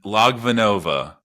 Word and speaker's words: Logvinova: great how are you I'm doing good and logvenov that's perfect yeah it looks scary but it's